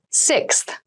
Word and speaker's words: sixth: number six of something this is a really good word to practice some pronunciation slow down that six that middle part there the sixth book from